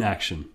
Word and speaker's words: action: The base in the word action, well, the ion is pronounced un in action. Un. The base act is pronounced aksh in action. The t is writing the sh.